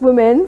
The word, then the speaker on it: Womxn: the the ex um it's still pronounced women some people are tripping